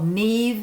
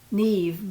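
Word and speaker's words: Niamh: is how it's pronounced neve but it's spelled n-i-a-m-h that's an irish name so if you look at that name you would never pronounce it nev but they do anyway i like this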